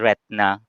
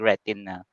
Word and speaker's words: retina: Last na, So, yung kasi, pero ngayon accepted na kasi yung retina, no? Pero ang usual noon, ang pronunciation niya is retna. Okay, nung back na mga 2010s backward. Ngayon kasi nag-evolve ang language, ina-accept na yung retina.